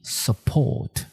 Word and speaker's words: support: 第二个 support S-U-P-P-O-R-T support 注意重音在后面，念作 support，它的意思是支持。